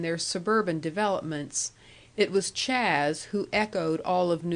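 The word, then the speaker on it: Chas: Soul Mr Charles salmond whom everybody called Chaz pronounced Chaz a good Soul who was a little tiresome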